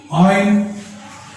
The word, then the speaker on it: ion: आयन, British वाले आयन और American pronounce करते हैं आयन।